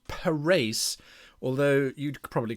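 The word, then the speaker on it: Parys: a look at for a little town called per race although you'd probably call it Paris but it's pronounced Paris by the the Dutch the Afrikaans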